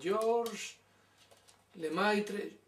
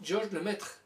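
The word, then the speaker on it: Georges Lemaître: Anda, pues algunos no saben pronunciar el nombre, dicen Georges Lemaitre, es Georges Lemaitre.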